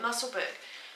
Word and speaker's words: Musselburgh: Musselburgh. I live near a place called Helensburgh, and it's spelt similar to Musselburgh, so let's call it Musselburgh.